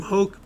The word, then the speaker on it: Hoke: Dragoon towns many soothsayers Madame Hoke pronounced like you're coughing up a gnarly bit of phlegm Madame Hawk is the real